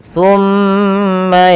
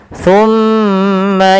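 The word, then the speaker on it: ثم: Kemudian pada lafal summa yaquluna hadza, pada lafal summa tahan suara mimnya sepanjang 2 harokat.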